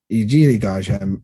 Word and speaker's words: Ijiligaja: Ijiligaja, it means Ijiligaja means Elk River. But if you slow it down and say it wrong, Bishila means yellow rock. So if I say Bishili Aja, and Aja means river, Bishili Aja, Yellowstone River.